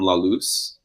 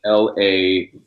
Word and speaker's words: La Luz: I wonder if I've been pronounced that wrong. Or like one might pronounce it as La Luz. Yeah, or Lux. It's like Laluz, like the light in Spanish. La Luz.